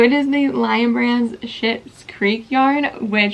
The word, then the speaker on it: Schitt's Creek: So it is the Lion brand's Schitt's Creek yarn, which Schitt's Creek is a show. I promise I'm not cussing at you. It is spelled SCHITT' Creek, and it is a show